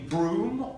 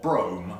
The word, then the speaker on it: Brougham: horse-drawn carriage, in particular the Broom or Brougham, that's spelled B-R-O-U-G-H-A-M.